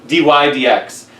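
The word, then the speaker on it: dy/dx: is this notation um d y over dx which is pronounced d y d x and uh for now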